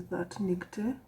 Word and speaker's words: ThatNicte: The name of my blog is ThatNicte.